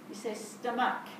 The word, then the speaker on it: stomach: to match do we you say stomach we don't actually pronounce the h we just called slum